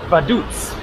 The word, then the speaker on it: Vaduz: sure here we are badutz is how she pronounced it to me bus announcer so that